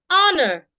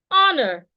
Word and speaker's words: honor: e honest not honest honor honor the H is silent so to hold your